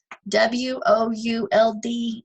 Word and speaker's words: would: And remember, W-O-U-L-D is pronounced would, just like the wood on this desk.